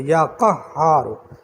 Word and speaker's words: یا قہار: یا قہارو یا قہار، پورے تلفظ کے ساتھ، اور یہ ہاں کی پوری تشدید ادا کرنی ہے، یا قہارو۔ اسی تشدید میں سب کچھ ہے، آپ لوگ ان باریکیوں کو سمجھتے نہیں ہیں۔ اسی تشدید میں سب